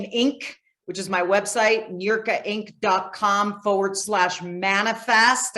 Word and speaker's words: Niurka: my first name, Inc, which is my website, Eureka Inc com forward slash manifest. And you spell that?